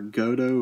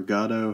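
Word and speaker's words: Gotoh: These are Goto or Gato, however you'd like to pronounce them.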